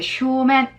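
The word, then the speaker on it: 正面: 이렇게도 기억을 하시고 그 다음에 정면은 이제 쇼맨 정면도 세이맨이라고 읽으시는 분이 있어요. 뭐 어색합니다. 쇼맨인데 아주 바로 정면이요.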